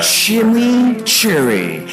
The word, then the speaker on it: chimichurri: Introducing Wendy's new Chimichurri Cheeseburger. Chimichurri. That's how you pronounce it.